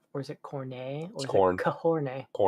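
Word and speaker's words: Khorne: Do you pronounce it as corn or is it corn or kahorn? Corn.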